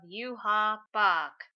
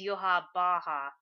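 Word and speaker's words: Yhwach: So this week's chapter we get the backstory of yua Bach at least that's what I was calling him turns out the way you say his name is yua Baja but screw it I'm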